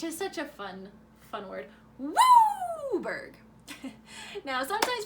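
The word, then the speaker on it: WUBRG: It could be a domain deck, 5-color, or WBRG, which is pronounced Wooburg, which is such a fun word. Wooburg.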